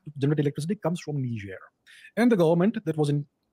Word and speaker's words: Niger: It's called, the spelling is N-I-G-E-R. It's called Niger. It's a French pronunciation.